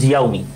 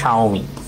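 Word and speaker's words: Xiaomi: আমি প্রথমে এটার উচ্চারণ করতাম জিয়াওমি, যখন প্রথম আসছে বাজারে। হ্যাঁ হ্যাঁ, তারপর জানলাম এটা হচ্ছে কি, এটা হচ্ছে শাওমি। এটা হচ্ছে কি শাওমি।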